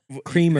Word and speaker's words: Kramer: Kramer.